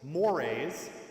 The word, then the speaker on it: mores: into four categories right so we have fol mores that's how it's pronounced tabos and laws right so in each